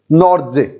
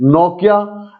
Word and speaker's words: Nortje: Yes everyone, सो आज हम सीखेंगे कि हाउ to pronounce Anrich नॉर्जे। इज इट नोकिया, Anrich नोकिया, और इज इट एंड्रिक नोकिया, और इज it just Anrich नॉर्जे?